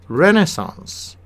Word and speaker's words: Renaissance: The American pronunciation would be Renaissance. Renaissance. Renaissance. The British would be Renaissance.